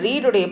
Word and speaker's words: read: ஆனால் இந்த ரீடுடைய பாஸ்ட் டென்ஸை நம்ம உச்சரிக்கும் போது ரெட் அப்படின்னு உச்சரிக்கணும்.